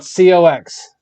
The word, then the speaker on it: Cox: So it's spelled COX and it's pronounced Cox.